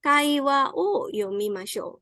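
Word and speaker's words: 会話を読みましょう: Ini bacanya adalah kaiwa o yomimashou.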